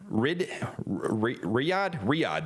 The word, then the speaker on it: Riyadh: him on his arrival in Riyadh, that's how you say it, that's right.